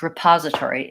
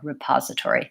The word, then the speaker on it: repository: question how to pronounce repository is it rip or re repository so the rule generally is words that have an unstressed first syllable and are spelled with an E like between or repository is that use the